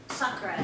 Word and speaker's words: Sakura: Yeah, Sakura is how she pronounces it.